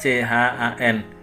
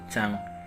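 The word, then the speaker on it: ちゃん: Kemudian di sini ada CHAN, dibacanya chan, atau biasa saya baca itu chang. Karena tulisan n ya, huruf n di sini, huruf N di sini. Sebagian orang Jepang N di belakang ada yang mendengung eng, ada yang dibaca N.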